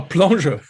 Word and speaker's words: Plongeur: Oh, plongeur. I thought they were saying bonjour. Bonjour. Bonjour, monsieur. Bonjour. How's it pronounced?